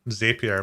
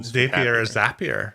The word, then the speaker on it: Zapier: whatever even though i'm sappier like say again it rhymes with happier happier that's how you remember yeah happier happier happier